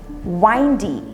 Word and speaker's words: windy: इसे कैसे हम प्रोनाउंस कर सकते हैं। एक जो है बहुत आंधी या बहुत क्या बोलते हैं विंड आता है, तो हम बोलते हैं इट्स विंडी। दूसरा वर्ड क्या है, वाइंडी, यानी कि अगर आप कहीं हिल स्टेशन या